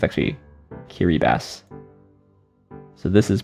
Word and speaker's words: Kiribati: the altar pronounced pronunciation is kiribati it's actually kiribati so this is pronounced oh i see basically it's pronounced